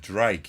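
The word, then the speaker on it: Ddraig: Mr Glenn's pickups the drag you got to pronounce it Drake it's Welsh for Dragon Drake not Drake Drake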